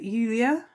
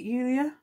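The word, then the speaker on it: Iulia: together in albert julia is it yulia it looks like julia but it's spelt with an eye which is why i'm going to have trouble saying it because to me it's going to be an ulia and i think that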